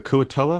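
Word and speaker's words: kuo-toa: say what is it how do you pronounce it the kua toa right yeah okay wonderful and you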